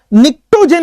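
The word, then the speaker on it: pnictogen: निक्टोजेन इसको बोलते हैं, पी साइलेंट है, निक्टोजेन।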